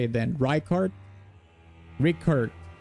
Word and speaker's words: Rykard: The name pronunciation is a sin. How do you say it then? Rykard? Rickard. Rykard.